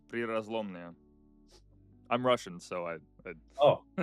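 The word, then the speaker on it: Prirazlomnoye: oil field, which I lack the ability to pronounce. I believe it's Prirazlomnia.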